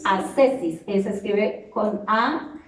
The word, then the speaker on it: ascesis: las características de la oración que se llama ascesis ascesis ascesis es se escribe con a s c e s y